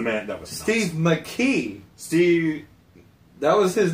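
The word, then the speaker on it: Makee: McKee. Steve. That was his name, Steve McKee.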